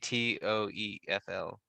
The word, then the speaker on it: TOEFL: the gpa score and how do you pronounce that i keep saying t-o-e-f-l score yeah you can say i know that's a different score or 12 toefl oh you can say t-o-e-f toefl yeah you can say